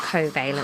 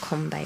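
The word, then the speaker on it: covalent: bonds get made between different atoms yeah it's pronounced coent not Convent any I did say coent actually you said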